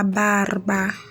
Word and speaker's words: barba: Always remember to roll your R's. La barba.